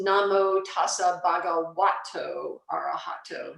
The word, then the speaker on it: Bhagavato: be aware of is in Pali, when you see a V, it's actually pronounced like a W. So so you'll see the first thing under the three refuge, it's Namo Tassa Bhagavato Arahato, not Bhagavato.